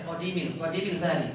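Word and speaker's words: قديمِ الباري: Di buku matannya itu ada yang kurang, bukan salah ya, Qadimil Bari, bukan Qadimal ya. Saya tadi bacanya Qadimal.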